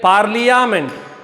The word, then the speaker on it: parliament: You have to write like parliament, but pronounce like parliament. Most of the students are committing the same mistake. Parliament means they skip A.